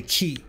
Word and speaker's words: quay: called the key now the actual name of this is is spelled quay but it's called the key and you're out here